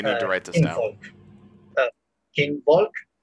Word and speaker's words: Kinvolk: Kinvolk, but it's pronounced with an S because it's German.